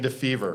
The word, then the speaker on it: Defever: Sorry if I pronounced your last names wrong. Kelly, Genei. Correct. And Defever.